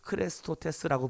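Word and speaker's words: χρηστότης: 것은 자비라고 번역되어 있는 헬라어가 크레스토텔스라고 하는 뜻이에요 크레스토테스라고 불러요 그런데 우리가 그리스도 우리가 예수 그리스도를 뜻하는이 헬라어 발음이 뭐냐면 크리스토스예요 크리스토스 어제 좀 비슷하지 않습니까이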